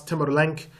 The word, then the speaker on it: Tamerlane: Tamerlane was the successor of the last great Khan. And so as Tamerlane began to do, and some people pronounce Tamerlank, as he began to